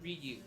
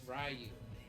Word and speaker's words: Ryu: It's not Ryu. It's not Ryu. It's Rayu. No, it's it's Rayu.